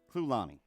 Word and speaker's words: Clulani: Clulani. Clulani. It's easy to remember. It's like a Dasani.